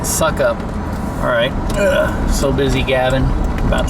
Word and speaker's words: Sukup: It's SUKUP, which I pronounce as suck up.